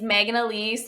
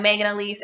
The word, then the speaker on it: Maegan Aleece: see your content yeah absolutely so my name's megan elise it's spelt uniquely so m-a-e-g-a-n-a-l-e-e-c-e i'm megan elise everywhere on instagram on youtube on um on